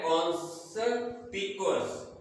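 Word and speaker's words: conspicuous: कॉन्स्पिकुअस, इसकी pronunciation है कॉन्स्पिकुअस।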